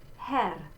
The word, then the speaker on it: Herr: So this in the word Herr, this is what we call the open E, and this is like in our English word bed, Herr.